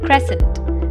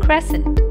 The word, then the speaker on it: crescent: to hello English pronunciation class let's learn the pronunciation of the names of some shapes the first word is Crescent Crescent is a curved shape that has two